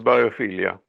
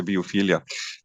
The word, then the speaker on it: biophilia: biophilia and or biophilia how you pronounce that in English and English yeah English is biophilia yeah in German we say biophilia and um okay do